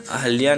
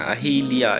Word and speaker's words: अहल्या: अहल्या नहीं होता है, अहल्या होता है, ठीक है ना। अहिल्या, यहाँ पे क्या अहिल्या, अहिल्या नहीं होता है, अहल्या होता है, ये वाला सही है।